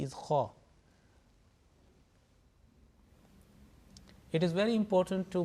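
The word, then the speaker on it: خ: 7th letter, not jim, not ha, but it's kha. Okay, sometimes it is pronounced like a B option is he or khe.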